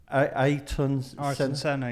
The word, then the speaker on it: Ayrton Senna: I can't always pronounce his name right. Is it Ayrton Senna?